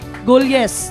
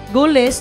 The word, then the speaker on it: Golyes: Nagpasalamat ko sa pamilya Golyes, tama? Golyes. Wag yun isakto ato kaya mo pagsulti, Goles, na inisulti, Giles. So ang tama yun nga pronunciation, Golyes.